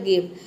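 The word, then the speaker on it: give: ई silent है क्योंकि word के अंत में आया है, पूरा हो जाएगा गिव।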